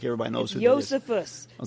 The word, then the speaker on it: Josephus: Josephus. Okay, Stop pronouncing the J like an American.